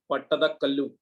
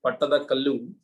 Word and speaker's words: Pattadakallu: Karnataka, it is called Pattadakallu. Okay, in Karnataka pronunciation it is Pattadakallu, but in the English books and all it is written like this, Pattadakkal. Originally it is pronounced as Pattadakallu.